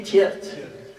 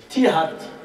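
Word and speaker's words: Tiaret: Maintenant on dit Tiert. Pourquoi Tiert? Parce que dans la langue française, on ne prononce pas le Ha. Alors, après la colonisation, ils ont changé le Ha par le Ya, Tiert. Il y a dans la langue arabe, son vrai nom, c'est Tihart.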